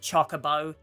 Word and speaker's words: Chocobo: RPGs and go to another hotly debated pronunciation, Chocobo or Chocobo. It's Chocobo. And again, there was no voice acting originally. I get how you might have mispronounced it. But where in Ketchi's coiffed fur did you get choke from? Where did you find the extra E? C-H-O-K-E needs an E, because if you look